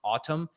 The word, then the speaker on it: Atem: the portable IQ air it's pronounced autumn but it's spelled Atem a TEM it's like